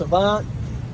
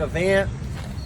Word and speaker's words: Avant: We have an offering from Avant, and it is pronounced Avant. Some guys call it Avant.